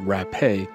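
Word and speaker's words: Rappe: named Virginia rap though she added an e to the end of her last name and pronounced it rape went to a party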